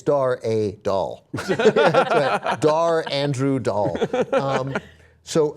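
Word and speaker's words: Dar Adal: way so my apologies it's Dara doll I don't know why I was calling him doll but whatever you know um uh it's Dar a doll dar Andrew doll um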